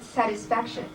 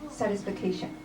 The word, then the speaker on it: satisfaction: 35 there's a word satisfaction that is not satisfication overall I like that